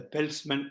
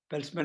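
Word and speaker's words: Peltzman: health center in a comprehensive review of the peltsman effect pelzman effect is pronounced as p-e-l-t z-m-a-n published in the acp journals on 2nd march 2021.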